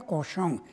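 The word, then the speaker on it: Cauchon: jon pero claro percusión que se escribe caucho pero se pronuncia cohesión y cohesión a francés quiere decir cerdo y esto es carol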